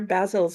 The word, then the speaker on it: Basil: you say it Alex I said it basil because that's the British pronunciation and well I mean